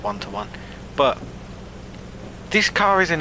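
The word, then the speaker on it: One:1: It's 94 and today we're in the Kernigseg one to one is I think how you pronounce it cuz it's got the one one side. I think it's pronounced one one but this car is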